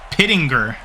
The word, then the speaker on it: Pittinger: It is also brought to my attention that the special teams unit for the Milwaukee Bees, I've been pronouncing wrong this whole game. It is Chris Pittinger and Rich Neubert.